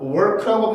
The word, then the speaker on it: work: 그러니까 work라고 발음을 해야 되는데 우리나라에 없는 글자니까 아예 하질 않아.